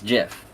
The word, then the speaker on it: GIF: pronounced I'm just saying GIF or gif uh I'm a gift person I yeah well the Creator said it was Jiff do I agree with